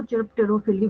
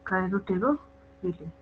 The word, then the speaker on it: chiropterophily: CHIROPTEROPHILY, कायरोटेरोफिली। ठीक है, मतलब बैट्स के थ्रू जब होगा तो कायरोटेरोफिली बोलते हैं, कई लोग इसको चिरप्टेरोफिली भी बोलते हैं, स्पेलिंग वही रहेगी, उसमें कोई चेंज नहीं आएगा, है ना।